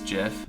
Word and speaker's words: GIF: let's try another attempt the guy who invented it says Jeff see I think that is I think that is the the correct way to say it he ter he should die because he says GIF wrong he was really smart